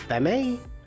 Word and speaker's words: Femme: at me now thanks Stuart's the one that told me it's femme okay I was actually expecting Frank to give it to me oh Uma corn says yep just Femme all right cool I'm